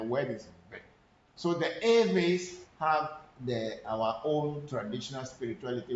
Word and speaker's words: Ewe: And the word Eve is the word of the people. It's not Ewe, but it's Eve.